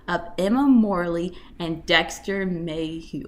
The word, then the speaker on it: Mayhew: The series follows the 20-year relationship of Emma Morley and Dexter Mayhew.